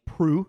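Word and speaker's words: Proulx: By Annie Proult is how you pronounce her name.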